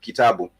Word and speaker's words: Kitabu: For example, if you talk about a name like Kitabu, which is a book, Kitabu, you realize that we do have the ki, ta, bu.